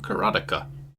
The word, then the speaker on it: Karateka: Dave 2 pointed out that it rhymes with erotica, and that seems to be correct.